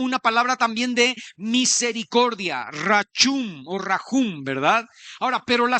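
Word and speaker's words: רחום: Bueno, se escribe rajum, pero se se pronuncia, creo yo, rachum.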